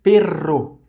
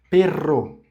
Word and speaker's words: perro: Portanto, todavia, entretanto, pero e perro, pero, pero, perro, perro, que aí significa um cão, um cachorro. Então, perro, dois Rs forte e pero, que é só uma R.